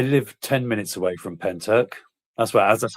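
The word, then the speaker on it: Pentyrch: I'm thinking that's pronounced Penny Rich.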